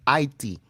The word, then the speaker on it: Haiti: Spiritual warfare, psychological warfare, all type of warfare was going on in Haiti, and that's how you pronounce Haiti. It's not Haiti. The H is silent. It's Haiti.